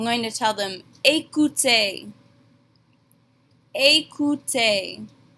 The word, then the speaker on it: écoutez: Here we have both of our phonetics rules with that E accent aigu and the easy letter combination. They make the exact same A sound at the beginning and the end of this word.